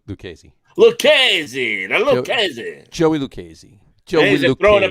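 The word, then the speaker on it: Lucchesi: for the message uh luchacy pronounced luke lucasy hello joey lucasy throwing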